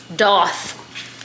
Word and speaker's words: daith: my new piercing and for my doth. That's apparently how you say it. I don't know how to change these though. So for my, this one, doth, I say daith.